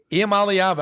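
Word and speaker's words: Iamaleava: think Nico IAM malava is that good a IAM alava I said it right I've been working on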